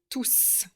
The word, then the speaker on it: tous: avec le nom et vous ne prononcez pas le S de tout s'il est seul dans son groupe c'est un pronom donc vous accordez et vous prononcez le S de tous s'il est suivi d'un